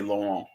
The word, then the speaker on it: Laurent: but in French, out, the T is sometimes silent, so you would say Laurent, you know.